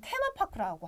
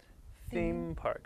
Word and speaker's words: theme park: 왜냐면 우리는 테마파크라고 하잖아요. 근데 미국 가서 테마파크, 테마파크 못 알아들어요. It's a little bit difficult. Right? 네, 지금 테마파크가 아니라 어떻게요? Theme park. Right? 되셨어요, 여러분. 발음 다시 한번 들어보세요. Theme park. Theme park라고 해야 알아듣습니다.